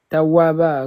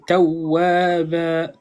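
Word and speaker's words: تَوَّابًا: Kana, Kana, kana tawaba. Ok. ouais, c'est ça. Et en fait, tu sais, l'erreur que tu as faite, toi, c'est que la shadda, tu la prononces pas bien. Il faut vraiment accentuer. Tawwaba, tawwab, tu vois?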